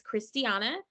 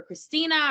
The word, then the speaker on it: Christiana: the United States, because so many people mistake it for Christina or Christine, and it's just often mispronounced.